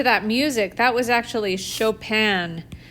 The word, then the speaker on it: Chopin: enjoyed listening to that music that was actually chopin chopin but it's spelled like this it's spelled like chopin like